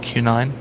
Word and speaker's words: Q9: And again, I even said the name wrong. It's actually just Q9.